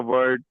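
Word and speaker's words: वो: So for he we have the word v. So we usually when we pronounce this word it comes out to be a sound like wo wo. Okay. Yeah. So you can call it vo.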